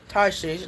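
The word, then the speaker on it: Tarshish: Carina, Shethar, Admatha, Tarses, Tarses, that's how you pronounce it.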